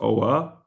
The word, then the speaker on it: Oa: Oh, it's pronounced oa.